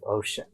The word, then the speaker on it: O'Shaughnessy: O'Shaughnessy.